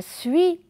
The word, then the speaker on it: suis: après moi puis et fait attention que le s ne se prononcent pas on a suis encore le s ne